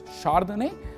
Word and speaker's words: Chardonnay: Chardonnay, we sort of pronounce it as Chardonnay, but it is written from C as the beginning.